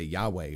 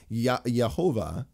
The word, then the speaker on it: Yahweh: Some would say Yahweh or Yehovah or Yehoahua, right? Or there's like 30 different pronunciation ideas. Yehovah or Yehovah is like the closest thing I've ever heard, and there's more evidence to me for that than anything else.